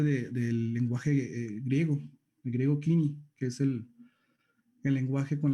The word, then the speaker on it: Koiné: Koiné le dicen muchos, pero realmente la pronunciación es Kini o Kini.